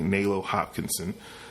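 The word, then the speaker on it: Nalo Hopkinson: Melo hot hops Hopkinson this is morning's where I pronounce it correctly Melo Hopkinson so so they're relaunching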